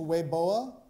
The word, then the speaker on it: Weibo: point your attention to wei boa spelt weibo pronounce weiboa which is a chinese language